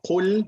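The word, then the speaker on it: قُل: Please, let's focus on qul, not kul. Kul means 8. And then you have qaf. Qul means say, and this is the meaning here.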